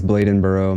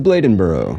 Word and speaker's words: Bladenboro: going to say it okay just kidding it's Bladenboro my bad I'll say it right the Beast of Bladenboro at least that's what the pronunciation website said